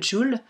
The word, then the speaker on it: jewel: choisi le jaune transparent donc le jul ça s'écrit jewel mais ça se dit jul et le plus dur